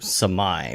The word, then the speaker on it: Samai: of things related to Samai, which I know how to say it correctly now because it's now like, you know how to say oh my. It's like, oh my.